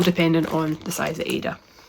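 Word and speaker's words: Aida: I say Ada, I don't know if I say that right. I think I've watched one podcast where they say Ida, and so if I'm saying it wrong, apologies, please do let me know. But I've always been told it's Ada, but I can understand why someone would say Ida, since it's A-I-D-A.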